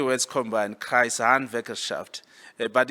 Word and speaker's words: Kreishandwerkerschaft: of Germany, I will teach you how to pronounce that word. In Germany, it's called the Kreishandwerkerschaft. It's just 3 words combined, Kreishandwerkerschaft.